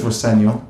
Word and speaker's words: Rosenior: My dad says Roseno, which is is the way to pronounce it, but as long as it's nice.